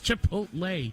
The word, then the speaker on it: Chipotle: Did I mispronounce that? Chicote from Star Trek. Chipotle? It's Chipotle.